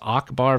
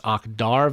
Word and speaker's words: Akhdar: In one area I do like, which I'll issue a correction, mispronounced it last week. I said it was Akbar Village. It's Akhdar Village.